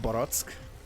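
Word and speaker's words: barack: He's asking I'm not sure if he's barrack can be like the barracks, and in Hungarian it means peach, so that is pronounced Borotsk basically.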